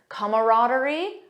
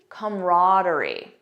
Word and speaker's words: camaraderie: real world examples and I'll show you both pronunciations camaraderie camaraderie so you have that